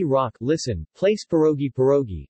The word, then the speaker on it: pierogi: meaning banquet or festivity the Russian plural pierogi with the stress on the last syllable should not be confused with pierogi stress on O in Polish and English in Polish cuisine which